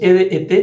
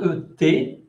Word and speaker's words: été: Entonces las dos été tienen tildes y no suena ET. Y esa no es la forma de pronunciar, ¿ok?